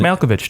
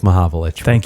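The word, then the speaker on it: Mahovlich: yeah yeah and Frank malovich too made my mavich yeah is that how you pronounce it malovich uh yeah it's it's Frank mavich that's okay we'll forgive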